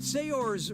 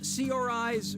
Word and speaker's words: Saoirse: Brooklyn yeah Puri do how do you pronounce her name Saoirse Ronan Saoirse Ronan say yours Ronan or see your eyes Ronan look sharp layer